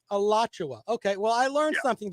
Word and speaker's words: Alachua: Listen, you did mispronounce it. It's Alachua, but I'll let that slide. It does look like it would be pronounced Alachua, but it's Alachua. Alachua.